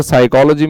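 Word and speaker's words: psychology: Word silent होता है, साइकोलॉजी में पी वर्ड जो होता है ना वो साइलेंट होता है, ठीक है।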